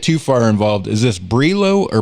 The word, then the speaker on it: BRLO: name of berlin um we ourselves we say berlo like berlin but uh we definitely